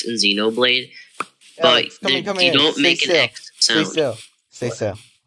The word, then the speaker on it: Xenoblade: anything right shut up earlier you pronounced Xenoblade as X Xenoblade Xenoblade which yeah Zeno it's Xenoblade X Xeno Blade you're doing the X Xenoblade it's just Xenoblade there's no X I mean there is